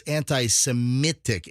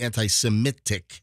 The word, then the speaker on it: anti-Semitic: he says anti-semitic it's anti-semitic MIT a lot of people pronounce it like it's m-e-t but it's m-i-t anti-semitic if I even threw